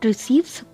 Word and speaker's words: receive: Receive. Here I am giving stress on the second syllable.